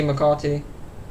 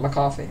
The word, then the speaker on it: McCarty: But then he met his ex-wife, Vicky McCarty. Is that how you say it? There's no TH, it's just, yeah, it's not McCarthy, okay.